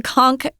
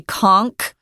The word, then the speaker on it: conch: If you've seen the conchk uh shell, you know that they're really big.